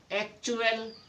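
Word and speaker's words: actual: यू ए एल आए जब भी किसी शब्द में टी के बाद यू ए एल आए तो टी का उच्चारण च हो जाता है यानी कि टी को च से पढ़ते हैं एक्चुअल मचल टेक्चुअल देखो इसमें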